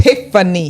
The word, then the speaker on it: Tiphanie: Tiphanie. There you go. Just PH. But you know, but they're right though, because that PH is pronounced F.